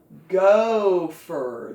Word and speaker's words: gopher: it is and phone go for the o is long and there's f and phone again gopher